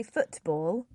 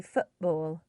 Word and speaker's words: football: consonant so for example in the word football we don't say football um that would actually sound a little bit unnatural if you said the if you pronounced the T so we often say football um yep yeah that